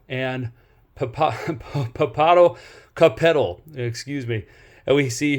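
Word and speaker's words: Popocatépetl: I believe they're pronounced Ixtacoatl and Papado Capetal, excuse me.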